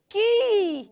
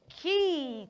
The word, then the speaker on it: quay: word so the word q a y is pronounce key it shock you it shock me too when I discovered so the right pronunciation of that word is not qu it is key children can you say that key say one